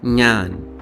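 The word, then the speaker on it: ഞാൻ: बट ये sound Malayalam में वन ऑफ the most common sounds है. Found for example in the Malayalam word ज्ञान meaning I और मैं.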